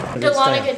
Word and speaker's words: Dahlonega: And we're at Caruso's, and you pronounce the name of this Dahlonega, town. Dahlonega, Georgia.